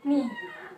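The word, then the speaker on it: knee: Kemudian yang kedua adalah ni, ya. K-nya tidak diucapkan.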